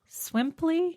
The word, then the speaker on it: Swimply: Um and yeah, there is a site called Swimply.